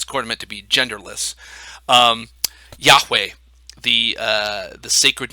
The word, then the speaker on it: Yahweh: other, and so they roughly transliterate to the kind of the English characters YHWH, which we would pronounce Yahweh, something like that.